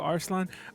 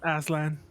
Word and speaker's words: Aslan: Mind if I call you Arslan? Mr. My name is Arslan. Aslan. Aslan. I mean, How do you spell that?